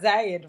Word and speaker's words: Zayid: It's not Maisoon, but he got Zayed right.